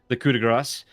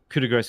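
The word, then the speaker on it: coup de grâce: Wait, I thought it's pronounced coup de grace. There's no C in it. The grace is gras, like that.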